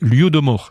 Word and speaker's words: Holodomor: Et les Ukrainiens ont justement un mot pour désigner ces famines, c'est l'Holodomor. Ça s'écrit H-O-L-O-D-O-M-O-R dans les transcriptions en français.